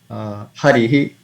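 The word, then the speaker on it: हरिः: So basically, while pronouncing Visarga, we have to pronounce ha sound but with a dropping effect. So, Ramaha, Ramaha, Harihi, Gopihi, Guruhu, Vadhuhu, Harehe, Vaishnavaihi, Guroho, Klauhu.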